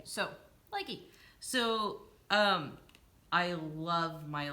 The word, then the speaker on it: Lykke: crafts yeah these um and likey is probably not how you actually pronounce the Norwegian name it's our you know bastardization of it yeah it's like IKEA I care it sells so even if I try to pronounce it the correct way is gonna sound weird yeah so lucky so umm